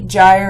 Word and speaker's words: gyre: For example, if the G's in here, these two words on the second line, are pronounced hard, gyre and gimble, then it's alliterative with brillig, borogoves, and outgrabe. But if they were pronounced with the soft G, gyre and gimble, like J, then they would not be the same sound.